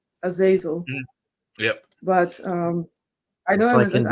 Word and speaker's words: Azazel: Yeah, that's how how its name is pronounced in English, Azazel.